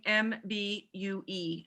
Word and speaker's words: Mbue: Mbolo, Imbolo, and last name Mbue. I believe that's pronounced Mbu.